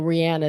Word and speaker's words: Rihanna: impressions of Rihanna singing well Rihanna is the way you say her name but we call her Rihanna um it's just it's